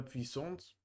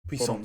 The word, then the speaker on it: puissance: And when we see Puissance in French two S, it means that we pronounce it like s.